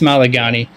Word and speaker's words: Malagani: and richard malagani uh one of the names that you absolutely butchered but we'll forgive you it's malagani uh pretty pretty solid